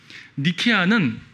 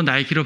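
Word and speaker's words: Νίκη: 운동화 신발 나이키 나이키 나이키 신발을 영어로 나이키로 발음하지만 원래 시라보 니케 니케 여신 들어봤어요 승리의 여신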